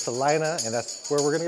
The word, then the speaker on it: Salina: told me the name of the city is pronounced Salina not Selena so it's Salina and that's where we're gonna go now we're